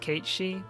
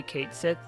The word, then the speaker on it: Cait Sith: I know that Cait Sith is pronounced Kate-Shi, but if I say Kate-Shi, then it is less likely that people will know who I am talking about.